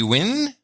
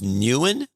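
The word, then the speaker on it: Nguyen: on the list okay it is uh lan v win spelled n-g-u-y-e-n lan v win from scottsdale arizona this is our first pronounced nuan no it says it right there win behind it okay yeah okay there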